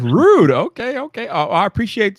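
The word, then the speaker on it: Røde: remember it all yesterday broadcaster it was rude it's rude okay okay oh i appreciate you letting me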